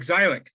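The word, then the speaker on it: Zeilik: noted back again to mike zeileck zylic is the way he likes to pronounce his name yeah that that paper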